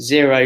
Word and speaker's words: Xero: That's zero spelt with an X, X-E-R-O.